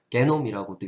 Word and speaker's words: genome: 그것들을 이제 지놈이라고 표현할 거고요. 그래서 게놈이라고도 읽죠. 그 게놈 이런 식으로 읽으면은 이제 저머니 독일식 발음이고요.